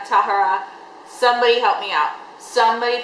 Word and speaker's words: Tahereh: I know a lot of people say Tahereh. Somebody help me out. Somebody please pronunciate this right. Tahereh is how they pronounce it in the audiobook.